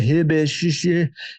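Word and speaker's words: Huebsch: I get asked all the time, how do you say that? Hibish. Hitch. That's what we call it, right?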